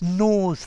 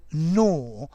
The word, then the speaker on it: gnaw: okay notice the pronunciation words normally beginning with gn the g is silent okay so um yes